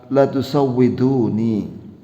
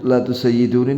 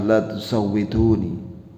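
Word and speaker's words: لا تسودوني: Wa sihhatul lafz la tusawwiduni. Oh, wa huwa mal'un. Ini adalah lahan, yakni keliru. Pengucapan la tusayyiduni ini keliru. Yang benar lafadznya adalah la tusawwiduni. Ya, bukan la tusayyiduni tapi la tusawwiduni.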